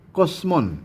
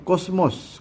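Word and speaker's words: κόσμον: Kosmon, ya, ini bacanya kosmon atau kosmos.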